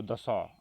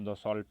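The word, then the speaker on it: Dassault: तो राफेल का जो निर्माण किया है वो दसॉ, अगर हम इंग्लिश में इसे बोलते हैं तो दसॉल्ट, लेकिन टी जो है साइलेंट है, तो दसॉ कंपनी है।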